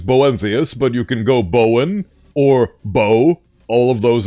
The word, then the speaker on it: Bowen: My full name's Bowenthius, but you can go Bowen or Bow. All of those are acceptable. I, unfortunately, while crafting my identity, failed to realize that on the British Isles, they actually pronounce Bowen as Bowen.